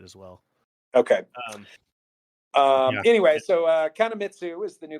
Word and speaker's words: Kanemitsu: It's Kanemitish. Kanamich? I wasn't going to try and pronounce it, but you pushed me. So, Kanemitsu. Kanemitsu. Oh, that's a U.